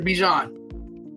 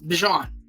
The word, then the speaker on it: Bijan: My guy, right, that helped me win the championship last year, Bijan. Right? You gotta say his name right. It's Bijan.